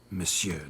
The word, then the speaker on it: Monsieur: Monsieur de Bourbeau. The emphasis falls on the last syllable.